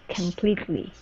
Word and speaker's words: completely: So, u Yeah, because there's no stress on that coom, we're going to pronounce it com completely. A completely.